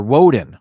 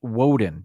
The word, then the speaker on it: Woden: the norse god uh wadden or woden i believe it's pronounced the norse god woden w-o-d-e-n better known at